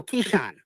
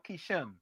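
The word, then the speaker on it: Keshan: No, Kishan. Kishan. Yeah. Kishan. K E S H A N. K E S H A N. Yes, sir. So, is is it pronounced Kishan or Kishm?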